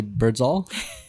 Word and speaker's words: Birdsall: And I'm going to say Birdsall for Mike. That's how it's pronounced.